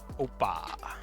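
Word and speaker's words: opah: O-P-A-H, in case anybody wants to know how it's spelled. Oppa.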